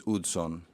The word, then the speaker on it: Hudson: named named after but if you say it correctly it's good son so it's one of